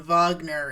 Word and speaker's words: Wagner: Vivian Wagner get it it would be pronounced Vivian Vagner in German get it it's funny